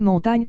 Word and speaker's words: Montaigne: Michel de Montaigne, Prononcé montagne car autrefois on mettait un i devant le gn pour indiquer la prononciation, est issu d'une famille anoblie de riches négociants bordelais en morue salée 8, les Aïcans.